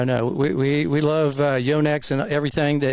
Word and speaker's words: Yonex: Yonex and everything that it's not yanex as we say in Texas it's Yonex right it's correct the correct pronunciation I think everybody around the probably the United States says yah but there's no yah in yo there isn't I mean